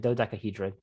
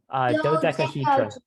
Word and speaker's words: dodecahedron: tetrahedron, so 4 triangles, octahedron, 8 triangles, and dodecahedron for 12. So we have our same prefixes. And this is Excuse me? More, yeah. How do you say the last one? This one? Yes. Dodecahedron.